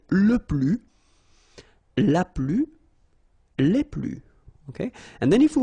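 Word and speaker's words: les plus: plural form okay so keep in mind that i don't pronounce it this final s here so we get le plus okay and then if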